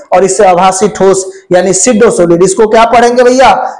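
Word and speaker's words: pseudo solid: इसको सिडोसोलिड पढ़ा जाता है। पी साइलेंट होता है। तो ये सिडोसोलिड है। ठीक है? जैसे साइकोलॉजी में पी साइलेंट होता है। उसी तरीका से सिडो सॉलिड में भी पीसाइलेंट होता है।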